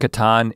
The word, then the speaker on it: Catan: And I was like, Catan. Mm-hmm. Or is it Catan? I think Catan is the correct pronunciation, but Catan is what— I was like, this is Settlers of Catan.